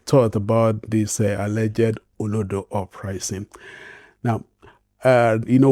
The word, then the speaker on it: Olodo: In Nigerian slang, Olodo, pronounced Olodo, refers to someone who is considered dull, unintelligent, or clueless, particularly in academics.